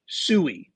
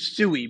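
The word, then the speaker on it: Sui: I'll tell you this PE people told me that you pronounce s sooie 100% there were people that that said you are saying it wrong it is sooie because this YouTube says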